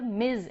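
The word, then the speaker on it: Ms: not right dear mister मिज एमएस is pronounced as मिज इट is pronounced as एम आई जड but written as एम एस मिस और मिसेस again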